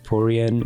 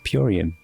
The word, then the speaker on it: Puan: corrected on the pronunciation it is not poran it is puan thank you puan you